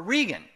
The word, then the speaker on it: Reagan: He didn't know if it was Reagan or Regan. And it could be pronounced either way.